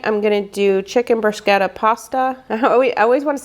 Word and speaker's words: bruschetta: For Thursday night, I'm going to do chicken bruschetta pasta. I always want to say bruschetta. It seems like it should be bruschetta, but it is actually bruschetta.